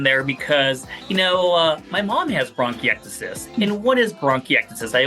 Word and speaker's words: bronchiectasis: It's called bronchiectasis. And, I purposely snuck that one in there because, my mom has bronchiectasis.